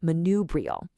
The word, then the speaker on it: manubrial: And building right off that bone, we have its adjective form, manubrial, pronounced manubrial.